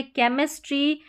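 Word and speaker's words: chemistry: यहां पर है केमिस्ट्री, कैरेक्टर और केओस। क्या हो गया? केमिस्ट्री, कैरेक्टर और केओस। इस तरीके से तो बड़ी-बड़ी स्पेलिंग्स में सी एच को क प्रोनाउंस कर रहे हैं।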